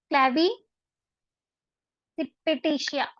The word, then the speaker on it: क्लैविसिपिटेशिया: किस फैमिली से बिलोंग करता है, क्लैवी सिपेटेशिया। थोड़ा प्रोनाउंसिएशन थोड़ा सा अजीब है इसका, बट अगर ट्राई करोगे तो हो जाएगा, क्लैविसिपिटेशिया, ठीक है।